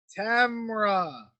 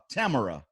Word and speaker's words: Tamara: Tamara. So Tamara. Yes. Like camera, but with a T. Yes. Okay, cool. Tamara.